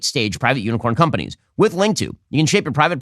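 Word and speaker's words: Linqto: for private Equity investing link to which is spelled l-i-n-q-t-o provides a streamlined solution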